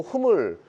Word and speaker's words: HMM: 지금 이제 누워졌던 종목도 올라오다 보니까 그 그리고 H&M이라고 읽지 않아요. 잘 모르시네요. 흠이라고 읽어요. 흠.